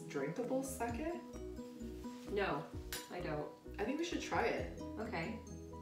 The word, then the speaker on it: sake: But it's pronounced sake. Cats. Oh, sorry. Sake. It's like Kobe versus Kobe.